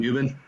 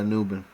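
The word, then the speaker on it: Nubin: yeah let's take uh nuben all right turn it in pick 75 you got an A yeah hey and it rhymes with Newman from Seinfeld so I figured uh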